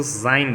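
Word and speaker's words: sein: तो दोनों के एग्जांपल्स में लिखे, वो सेन लिखा है बट उसको सेन नहीं बोलेंगे, उसको जाइन बोलेंगे, जाइन।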